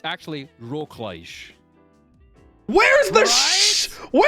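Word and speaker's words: Wrocław: it works I don't understand it's actually pronounced Rockledge and every time when I when I was in Poland last they would uh they would keep laughing at me every time I said the name wrong I'd be like it's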